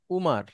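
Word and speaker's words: عمر: এর আগে এখানে পড়েছি ওমার মানে ওমর যেটাকে আমরা ওমর বলি সেটাই আরবিতে ওমারু সঠিক আরবি যদি সঠিক উচ্চারণ যদি বলেন এখন একটা নাম আছে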